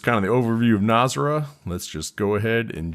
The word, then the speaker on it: Nazaré: I believe I said Nazaré last segment. I think that's wrong. Pretty sure it's Nazaré. At least that's as good as my American pronunciation can do.